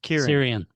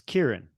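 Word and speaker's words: Ciarán: scene Ariane Hines it's Syrian Syrian I've done I've never actually seen his name in print no it I mean if you're gonna say it the way it's spelled it's crn but it's Kieran fair enough fair enough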